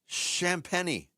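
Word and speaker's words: Champagnie: Champeni. It's Champeni.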